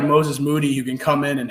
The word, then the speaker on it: Moses Moody: and going and going yeah like perk it's moses moody there's some tough names to pronounce in this draft and that's the one